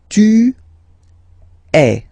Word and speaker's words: tu es: And for tu, then you've got this combination of letters, okay, but then basically the sound you will pronounce or you will produce is est, okay. Tu es, all right.